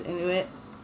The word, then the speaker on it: Inuit: I actually follow this guy on TikTok and he's Inuit. I don't think I'm pronouncing that right.